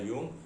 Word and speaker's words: Jung: Okay, so this is the idea, and Jung, Jung, that is the pronunciation Jung, but the spelling is Jung.